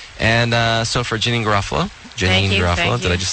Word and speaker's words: Janeane Garofalo: Janine Garofalo.